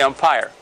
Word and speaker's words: umpire: That's the way it is pronounced in English, the umpire.